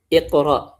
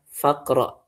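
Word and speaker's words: اقرأ: Iqra. Nah, kita baca iqra hamzahnya dibaca hamzah wasalnya. Tapi ketika dimasukin sama wau ataupun fa jadinya apa? Faqra. Tummaq waqro.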